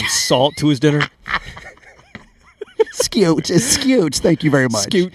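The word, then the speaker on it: Skeoch: said the man's name it's Tommy SK formerly the Tesla guitarist and in Robert a few weeks ago called him Mr scooch scooch it's spelled like that that I was speaking phonetically thank it's just it's a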